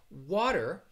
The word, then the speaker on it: water: the sh sound pronunciation but water is a word that i would say with the flap t and what this is it really sounds more like a a soft d sound and in general not